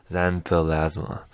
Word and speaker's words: xanthelasma: on the eyelids - that's called xantho lys santa xanthelasma i said it wrong next one is